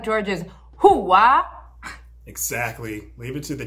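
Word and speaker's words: hooah: Close enough, but if you really want to say it right, it's hoo-ah!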